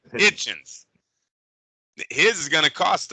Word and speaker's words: Hitchins: Now, for, how do you say it? Hutchins? Or Hitchins? Hitchins.